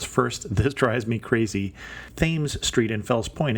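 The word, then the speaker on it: Thames: this drives me crazy themes Street in Fels point is actually pronounced with the th not like TS and Broadway and Alisia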